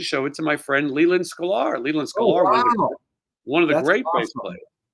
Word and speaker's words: Leland Sklar: Leland Sklar. Leland Sklar, give him the link to that.